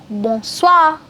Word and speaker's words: bonsoir: Then for good evening, you have bonsoir.